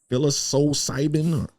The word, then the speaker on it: psilocybin: So I also saw a post that you were on, and you said that you tried, I'm trying to pronounce it right, psilocybin?